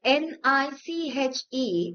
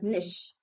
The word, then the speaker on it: niche: The word n i c h e is not niche but nish.